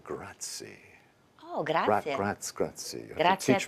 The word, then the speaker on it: grazie: Grazie. You have Grazie to teach me a little better pronunciation.